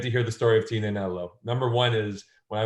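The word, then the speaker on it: Tignanello: a couple strikes because I always refer to Tina nello with it with a G but you're not supposed to pronounce it I go to Alessandro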